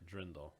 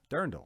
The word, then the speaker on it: Dirndl: It's not Drindle. No, it's not like a Dremel. I have a Dremel. See, it's D-I-R, Dirndl.